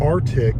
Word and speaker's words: Arctic: Arctic instead of Arctic. There's a C in there.